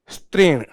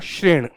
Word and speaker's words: श्रेणी: बोलना रहा जैसे की इसको मैंने बोला था ट्रेन ट्रेन नहीं होता यह इसको उच्चारण करना होता है श्रेणी आपने देखा होगा यह